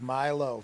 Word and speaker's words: Milo: It's Milo. Got it. Okay. I think I said Milo at one point, but I was like, I don't think that sounds quite right looking at it.